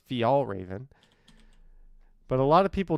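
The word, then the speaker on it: Fjällräven: word oh it's all one word it's actually pronounced fial Raven but a lot of people just say fall Raven I don't know thank you so much for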